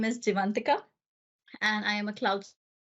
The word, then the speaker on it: Jeevantika: episodes as well um so my name is divantica and I am a clouds solution architect in